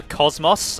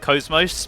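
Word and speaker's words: KOS-MOS: bug me slightly that they're calling her Cosmos and not Cosmos because it is pronounced Cosmos in zenos Saga I guess no one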